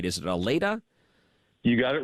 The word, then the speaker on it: Allata: WD and I want to make sure I'm pronouncing that right is it ala you got it right Ryan thanks for having